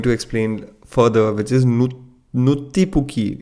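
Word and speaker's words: Nuttipukki: There's a really interesting word that they are going to explain further, which is Nuttipuki. It's spelled as NwttiPukki.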